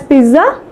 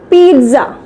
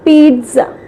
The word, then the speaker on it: pizza: The correct one is pizza. The correct word is pizza. We correctly called as pizza. Okay, so here we give a sound of T also with a small pause, that is pizza.